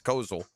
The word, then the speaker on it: Koziol: rookies and the vets, Koziol, I should say, is how you pronounce it, as they get on